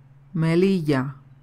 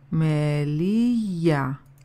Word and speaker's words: Melilla: Melilla. Melilla.